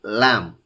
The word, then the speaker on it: lamb: Whenever there is a combination of M and B at the end of a word, then B is not pronounced.